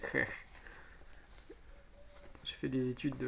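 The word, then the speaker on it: Ecch: Je ne sais pas comment vous prononcez, mais moi je vais le prononcer Ech.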